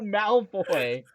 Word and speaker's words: Malfoy: Draco Malfoy, Where did that N come from? It's Draco Malfoy. Malfoy.